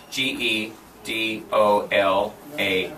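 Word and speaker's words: גדולה: Okay, you're almost giving an equal sound, but gedola is the sound of the vowels. Gedola. Gedola. Gedola. Gedola. In other words, you have to shorten this E sound, gedola.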